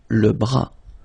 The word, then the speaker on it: bras: Le cou, le bras, same thing here, final S not pronounced, le bras.